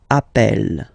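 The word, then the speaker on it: appelle: form Double L so when you get this a vowel and then you get a double consonant and well they are the same then it does change the pronunciation of uh you tend to pronounce it like e e really open that's the reason why you pronounce it app Appel okay Appel Appel Appel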